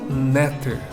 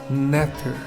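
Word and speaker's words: nṯr: Mas pronunciaremos como Neter, Neter, Neter, lembrando que inserimos um E entre as consoantes para poder gerar essa pronúncia, Neter, Neter.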